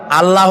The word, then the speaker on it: আল্লাহ: আল্লাহর নাম আল্লাহ। বলেন তো আল্লাহ নয় কিন্তু আল্লাহ হচ্ছে অশুদ্ধ শুদ্ধ হচ্ছে আল্লাহ বলার সময় মুখটা গোল হয়ে যাবে বলেন তো সবাই উচ্চারণ করেন আল্লাহ আবার বলেন আল্লাহ আবার বলেন